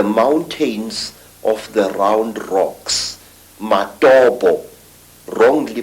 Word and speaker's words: Matobo: And one of these parts of Africa, say, is a remarkable place called the Mountains of the Round Rocks, Matobo, wrongly pronounced Matopo, in Zimbabwe.